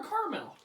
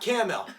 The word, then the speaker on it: caramel: is a caramel or caramel caramel 10 L it is not cam L that that is that